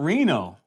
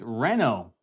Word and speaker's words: Reno: Where did you get the uh Where did you get the name Reno Wood Remodeling? So, it's actually uh It's not Reno. It's It's Reno. Uh short for renovating or renovation.